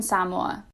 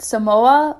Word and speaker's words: Samoa: islands known as american samoa a quick note before i continue a lot of people call it samoa but the correct pronunciation is actually samoa so now you know